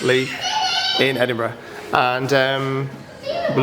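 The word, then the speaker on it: Leith: Royal yacht here in Lee I think it's Lee it's about sorry pronounced Lee in Edinburgh and um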